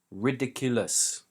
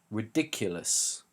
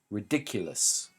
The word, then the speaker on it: ridiculous: correct stress and pronunciation ridiculous ridiculous we put the stress on the second syllable which is dick so we have four